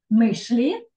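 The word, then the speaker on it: myśli: Мишлі. От Мислі. там буде ще. Ото ще, коли над «си» така креска вгорі, ото вже ми не читаємо як «си», то буде ще. Мишлі.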